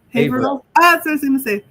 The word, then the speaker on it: Haverhill: My father, James Ferraiolo, was born in I can never pronounce that. Haverhill.